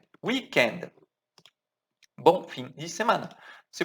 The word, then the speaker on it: weekend: Cuidado a pronúncia, tá? We, isso aqui, weekend, weekend.